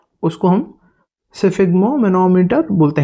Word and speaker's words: sphygmomanometer: इसका प्रोनाउंसिएशन होगा सिफिग्मो, सिफिग्मो, सिफिग्मो मैनोमीटर, सिफिग्मो मैनोमीटर, सिफिग्मो मैनोमीटर, सिफिग्मो मैनोमीटर।